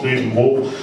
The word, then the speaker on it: Grevenbroich: Wie spricht man es aus? Grevenbroich.